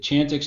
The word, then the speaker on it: Chantix: giving out adderall hmm chantix is Champ X that chantix is the correct way to say so dr.